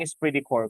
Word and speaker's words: esprit de corps: Pag sinabi natin esprit de corps, class, what is that? Okay, so that is pronounced as esprit de corps.